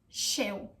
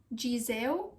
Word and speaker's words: ghișeu: The correct pronunciation for this word is ghișeu. Ghișeu. So it's not gizeu, it's not giseu, it's ghișeu.